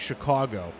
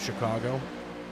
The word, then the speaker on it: Chicago: You know, like Chicago. There's somehow an AW in the middle of Chicago. Like your entire jaw just goes slack.